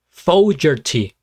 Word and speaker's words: Fogerty: Fogerty.